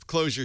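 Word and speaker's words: Clojure: especially when you say it's closure spelled with a J by the way what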